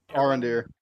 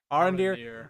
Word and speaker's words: Arondir: Arondir. Arondir.